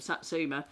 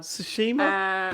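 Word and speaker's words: Tsushima: one you can't pronounce that Japanese one goats of satsuma. Um but yeah goats of sats I prefer that one. Sushima sushima. Yeah I've got there.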